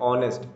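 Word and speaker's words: honest: sound आ रही है जैसे ऑनेस्ट एच यहां पे साइलेंट है तो ऑनेस्ट बोलते हैं तो क्या आएगा एन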